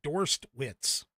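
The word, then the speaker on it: Dorstewitz: can't pronounce his name d o r s t w TZ dorsed witz I think anyway um he uh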